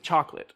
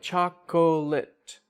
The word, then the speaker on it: chocolate: don't say in English we don't use all of the syllables with chocolate so it's cha like when you spell it chocolate wait chocolate lit right and so like maybe